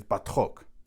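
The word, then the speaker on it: Batroc: His name in French pronunciation is Batro.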